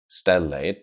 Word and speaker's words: Stellate: Stellate, 2 syllables. And it has this association with stellar, the stars.